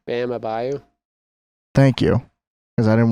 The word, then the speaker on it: Bam Adebayo: Bam Adebayo.